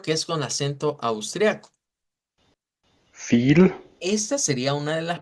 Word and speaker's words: viel: Entonces, esto va a sonar como fil, fil. Hay que hacer esa I como sostenida.